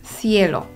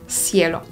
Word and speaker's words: cielo: pytanie to zależy, bo w większości regionów Hiszpanii litery CE oraz CI wymawia się w sepleniący sposób z językiem między zębami, jak na przykład w słowach cerrar czy cielo. Natomiast w Ameryce Łacińskiej usłyszymy dźwięk S, czyli se, si, cerrar, cielo.